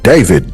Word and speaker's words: D4vd: about an update on David D4vd, however you, David, you know what I'm saying? That's what he say his name, that's how people call him, so I'm gonna call him David, you know what I mean?